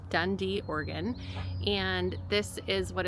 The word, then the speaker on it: Dundee: Um, we are in Dundee, Oregon, which, um, if you want to look it up, it's spelled D U N D E. Dundee, Oregon.